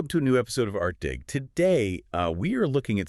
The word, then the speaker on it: ArtDig: interconnected essays published by ArtDig, and just a quick note, that's ArtDig with a hard G, rhyming with big.